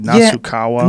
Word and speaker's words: Nasukawa: How do you pronounce his last name correctly? Nasukawa.